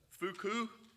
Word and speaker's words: Foucault: I just learned the French pronunciation. I had 1 year of French, but I had to look it up. Foucault, Michael Foucault, French philosopher.